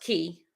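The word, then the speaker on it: cay: so people always ask do you say k or key okay so i did ask the driver of the boat when we went to golf's key um which i just produced that snorkel video this morning and he said that if it is spelled c-a-y-e it is pronounced key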